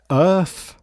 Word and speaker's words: Urth: this this is the earth I'm going to I'm going to pronounce it Earth Urth and this is a